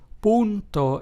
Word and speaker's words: punto: And it is pronounced as the U found in the English word ooze. So, therefore, the Spanish word punto, which means point, is pronounced as punto and not punto as you probably would assume in English.